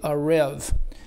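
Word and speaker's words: ארב: This term, or if I had laid wait, it's written as Arab, Strong's number 693, but it's pronounced apparently a rev.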